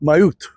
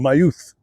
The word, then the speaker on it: mjød: In Norse cultures, mead—called mjød (pronounced “myuht” or “myuth” was brewed in open, wooden tubs or clay pots.